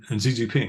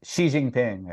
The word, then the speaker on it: Xi Jinping: how are you going to out-negotiate Putin and Xi Jinping, right?